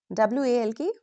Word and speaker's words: walk: Silent L usually comes after A, O, U. When L comes after these vowels, very often we don't pronounce it clearly.